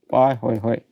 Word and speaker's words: Pahoehoe: So, this Pa Hoi Hoi, you see this is the pronunciation Pa Hoi Hoi.